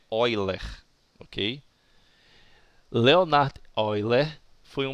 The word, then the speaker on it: Euler: a pronúncia você é a pronúncia do nome dele é olher OC Leonard Euler foi